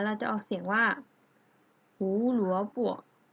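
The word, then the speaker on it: 胡萝卜: แล้ว นะ คะ ว่า ถ้า พินอิน เป็น เสียง เบา เรา จะ ออก กึ่ง เสียง นะ คะ เรา จะ ไม่ ออก เสียง เต็ม นะ ดัง นั้น คำ นี้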